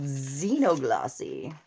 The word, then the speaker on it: Xenoglossy: totally documented so that's called Xeno gloss I will spell it it's x e n o g l o SS y like Zeno like make Zena a boy Zeno and she's